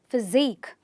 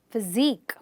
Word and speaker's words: physique: Okay, words ending with the QUE. Again, you're going to stress the suffix itself and say physique, physique, not physique, physique.